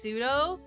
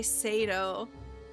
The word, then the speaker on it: pseudo: Yeah, I didn't know for a But that's huge part of my life that it's pronounced pseudo. I used to say Sado.